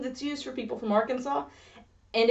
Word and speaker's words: Arkansas: And if you'll remember from ages ago you'll remember that Arkansas really doesn't like being pronounced the same way as Kansas, so maybe there's a